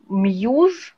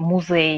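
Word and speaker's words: Muse: Значит, вот на то, что вы описали, очень хорошо сядет мьюз, такой музы. Вот так произносится, они еще музей ее произносят. Именно через Z? Нет, муси. Мьюз. Да, мьюз.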